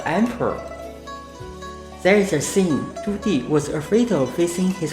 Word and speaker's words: Zhu Di: To make it easier for you to grasp the pronunciation of his name Zhu Di, actually you may find it sounds something like a girl's name Judy.